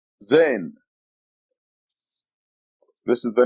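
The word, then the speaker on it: ز: This is the letter Zain. This is the name of the letter, Zain, and it's equivalent to Z in English.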